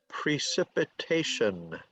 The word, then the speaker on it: precipitation: is on all right it's five syllables precipitation so it's on it's a it's a 5-4 word the emphasis is on the fourth syllable precipitation okay so rain